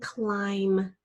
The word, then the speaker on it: climb: how about the word climb remember our trick with that I love I instead of a silent e we're gonna have a silent B nice work let's do